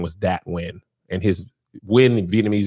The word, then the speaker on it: Nguyen: One of my favorite football players as a kid name was Dat Nguyen, and his Nguyen in Vietnamese is Nguyen. But it's pronounced win, like win a football game.